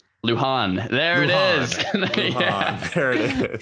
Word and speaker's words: Lujan: got a last name it starts with an l and you pronounce it luhan there it is there